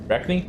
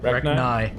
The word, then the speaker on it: Arachne: Arachne? Arachni. Ah. But E is derived from the Korean language. Therefore, they also pronounce it E.